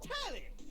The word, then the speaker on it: Telly: The name's Telly. Telly. Rhymes with Nelly. Nice. Like, whoa, Nelly!